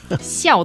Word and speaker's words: 校: Oh, it's not small? No, it's 校. 小 is small. 校, the fourth tone, is school. I'm so tone deaf. It's hilarious. And 服 is clothing, uniform. 校服 is the school uniform.